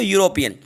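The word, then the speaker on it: European: तो देखिए यूरोपियन, तो यूरोपियन को जब आप लिख कर देखेंगे तो साउंड आपको या का आएगा। अब यहाँ पे देखिए ई है, यू है, ई को अगर साइलेंट कर लेते हैं, फिर यू आपको वाउल है, बिल्कुल यू वाउल है, लेकिन साउंड या का दे रहा है, साउंड या का दे रहा है।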